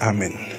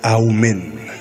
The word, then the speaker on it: Amen: Mais vraiment, ce n'est pas Amen, c'est Aoumen.